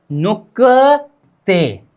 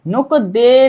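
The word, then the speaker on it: 늑대: तरफ द आ गया, तो ग नीचे आ जाने पर क का उच्चारण होगा और द रिप्लेसिंग में जाकर क्या बनेगा? त बनेगा। क्या? त। नुकते, क्या? नुकते। नुक दे नहीं, नुक दे नहीं, क्या?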